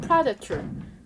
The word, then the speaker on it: predator: 그러니까 predation은 포식이고 또 predator라고 읽어야 되고 또 이거 발음이 달라요. predation, predator.